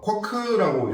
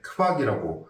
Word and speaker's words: Quark: 쿼크라고 읽어야 할 것 같지만 독일에서는 QU는 무조건 크브로 읽기 때문에 크박이라고 합니다.